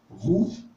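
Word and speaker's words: Hu: Roux, d'accord, ça s'écrit également comme ça, HW.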